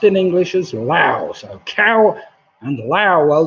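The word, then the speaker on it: Laos: next to vietnam is spelt with an s but only because the french put it there and it's not pronounced or anything like that it's pronounced in english as lao so cow and lao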